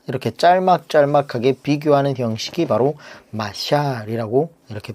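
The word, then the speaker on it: משל: 이렇게 기록하고 있습니다.이 자몬이라는이 말은 히브리어로 마샬이라고 이렇게 발음합니다.이 말은 뭐 마땅히 우리말로 번역할 말이 별로 없어요.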